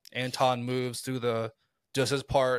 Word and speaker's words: Anton: Do they have more of a backstory of Antoine? That's 3. Take a shot. Antoine? What I say? Antoine. You said it 3 times. Then how do you say it? Anton. There's no W.